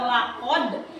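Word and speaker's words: لقد: bacaannya qalqala Kenapa qalqala karena saat kita membaca laqad itu bacanya sedikit memantul coba 1 2 3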